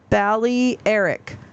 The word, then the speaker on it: Balearic: Carrie says pronounced Balearic. Balearic Islands.